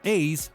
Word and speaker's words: AC: Este coche de nombre tan extraño que se pronuncia Ace era el candidato perfecto.